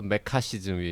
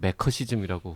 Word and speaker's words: 메카시즘: 뭐가 맞는지 이야기해 달라 교수님이 또 메카시즘이 맞다고 확인해 제대로 아니 남의 발음 가지고 이렇게 놀리는 거 아닙니다 놀리는게 아니라 우리는 이제 작지만 방송인으로서 정치자 분들이 어디 가서 매커시즘이라고 혹시 발음하시지 않도록 내 메카시즘이 맞다고 합니다 망고님의 댓글 하나만 더